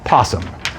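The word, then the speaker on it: opossum: it's just it's just possum you don't pronounce the o so this is just the integral of 1 /x and we found out that it's roughly 1.95.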